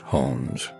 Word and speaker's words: Jones: dog as a puppy pronounced hones short for cojones view intimate pictures he